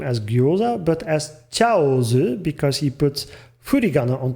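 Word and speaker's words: Chaozu: So in katakana, meaning it's a loan word, it's a non-native word, and he wants us to pronounce these characters more towards their Chinese pronunciation, because dumplings also exist in both Chinese and Japanese cuisine.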